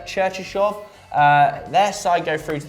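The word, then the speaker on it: Cherchesov: So Stanislav, how do you pronounce that second name? Cherchishov.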